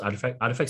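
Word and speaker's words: RTFKT: The most important one is probably the acquisition of Artifact. Is pronounced Artifact Studios by Nike.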